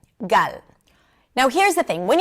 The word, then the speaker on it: Gal: This is why a lot of English speakers say gal instead of gal or sometimes they might say gal. So the g sound is the same. Great check. And then we have the h sound in Hebrew. Ah, very simple. Actually, it's closer to the uh as in cup in American English. Uh, so the beginning of the word gal actually sounds like gut. I have a gut feeling, right?